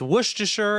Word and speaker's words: Worcestershire: It's pronounced Worcestershire, and that is JD from Heather's.